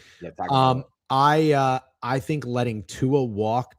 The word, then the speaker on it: Tagovailoa: No, try it though. Let's try. Tagovailoa. Yeah, I think you actually nailed it. Tua Tagovailoa. Yeah, Tagovailoa.